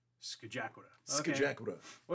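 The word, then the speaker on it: Scajaquada: You were a visitor if you looked at that and mispronounced it. That is the Skajakwata. Skajakwata.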